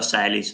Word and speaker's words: Salins: No, infatti Salins, diciamo, si pronuncia Salis, no? Salins, con accenti particolari, Salins.